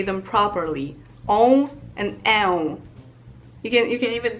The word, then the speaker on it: ę: This one is more similar to the letter E than on is to A, because it's on. And here I can again make an example of two different words. There's lek, which means medicine, and there's lęk, that means fear. I feel like the on and on sounds are kind of French sounds, and they're very nasal, so you kind of